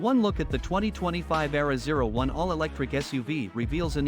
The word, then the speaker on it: Aehra: Its pronounced Aehra design team is headed by Italians Filippo Perini